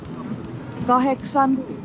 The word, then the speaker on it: kahdeksan: Numbers "kahdeksan" (8) and "yhdeksän" (9) are pronounced without letter d: "kaheksan" (8), "yheksän" (9).